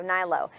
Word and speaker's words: Hnilo: a-n-d-y-h-n-i-l-o i was like how do you say that last name oh man yeah everything i love your last name though nilo h-n-i-l-o thank you thank you